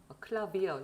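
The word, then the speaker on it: Klavier: 그거는 클라비어 이런 게 나오는데요. 그거는 이제 외래어라서 그렇다. 독일 입장에서 외래어라서 외래어의 원래 발음을 따라주는 것이다.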